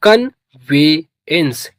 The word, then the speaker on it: conveyance: तो प्रोनाउंस करेंगे इसको CON इसे पढ़ते हैं कन। क्या पढ़ते हैं? कन। और VE इसे पढ़ेंगे वे। क्या पढ़ेंगे? वे। और YA इसे पढ़ेंगे ये। क्या पढ़ेंगे? ये। NC आधा ना और सा पढ़ेंगे। ई का प्रोनाउंसिएशन नहीं होता। तो ये हो गया कन्वेंस।